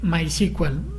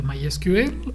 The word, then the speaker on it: MySQL: en este caso es eh my sequal. Eh, lo pueden pronunciar diferente MySQL o este my SQL para que no se vayan a perder.